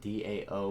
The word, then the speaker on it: DAO: attack i call it dao some people call it d-a-o but i call it dao because that's pretty that's a pretty cool pronunciation of it and